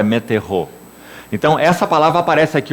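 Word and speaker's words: μετέχω: a palavra no original meterro. Ela escreve M-E-T-E-C-H-O, transliterado, é claro, né? do grego para o português, seria metechô, a pronúncia é meterro.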